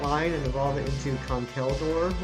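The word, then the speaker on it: Conkeldurr: If I get a second Girder, I can finish off that line and evolve it into Conkeldor, which I recently found out is how it's pronounced.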